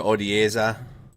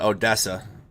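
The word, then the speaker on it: Odesa: few hours ago over odieza it's not odessa i know that that's texas i know you guys it's a different a pronunciation you see the anti-air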